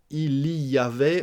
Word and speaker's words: il y avait: Il y avait, donc on mange le il. Il y avait, on dit il y avait.